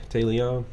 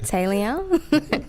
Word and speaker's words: Tai'Leone: Tai'Leone? Yes, that's it. Tai'Leone. The way it's spelled just makes me want to say something different.